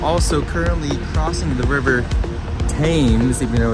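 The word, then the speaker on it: Thames: currently crossing the river tames even though it's there an H in it but they don't pronounce the h so it's tames and this was basically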